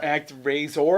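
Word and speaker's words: ActRaiser: razor um a couple act razor i believe it's how it's pronounced uh then also coming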